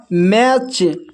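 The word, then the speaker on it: match: अब यहाँ पर देखिए यहाँ पर टी सी एच एक साथ है तो यहाँ पर भी टी साइलेंट है। इसको पढ़ते हैं कैच, इसको पढ़ते हैं मैच, इसको पढ़ते हैं वॉच।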